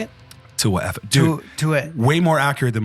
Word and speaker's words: Tauaefa: Tauaefa. Tauaefa? Yeah. How did I say it? Tauaefa.